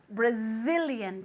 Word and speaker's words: Brazilian: this very good brazilian brazilian careful with that zed okay it's like a little b okay brazilian moving your vocal chords one more time very